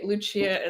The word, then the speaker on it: Lucia: sure so full candidly Luchia is usually how I pronounce my name Spanish so Luci espanol luia when I'm speak in English um but thank you